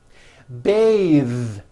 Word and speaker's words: bathe: The word bath is a noun with an unvoiced th, bath. But when you change it into a verb, to bathe, the vowel changes to an A sound and the th is voiced. bathe, like in bathing suit.